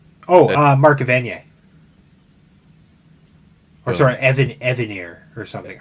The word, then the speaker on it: Evanier: Oh, Mark Evanier. Or sorry, Evanier or something. I always say Evanier, but yeah, I think it's Evanier or something, or Evanier. He pronounces it in the non-French way.